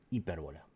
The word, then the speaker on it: hipérbola: Entonces, esta figura también recibe un nombre que es el de hipérbola. ¿Sí? Hipérbola con acento en la E.